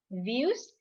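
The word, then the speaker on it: vUWS: place is views so v u w s we pronounce it views views is the student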